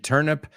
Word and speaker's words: turnip: y lo que es la planta, la verdura es nabos, turn y P, y todo junto, no hay espacio, turnip, but it's pronounced exactly the same.